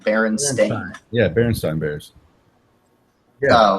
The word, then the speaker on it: Berenstain: told you that the it spelled sta I n like a stain on your clothing Berenstain yeah Barry stone beers